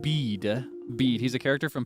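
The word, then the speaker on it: Bede: Uh, no, not Be, but Bead.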